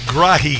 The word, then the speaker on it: Grage: So, uh, the, uh, journalist Dustin, I believe it's Grai is how he pronounces it. spelled Grage says that Representative Ben Davis